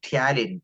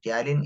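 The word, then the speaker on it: ptyalin: aware about it uh talin talin is a word used for salivary Ames p is silent here talin so this is the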